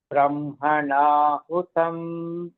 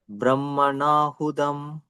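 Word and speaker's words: ब्रह्मणाहुतम्: Brahmanahutam. Brahmanahudam. Brahmanahutam. Brahmanahudam. Tam, ta, ta. It is not da, ta.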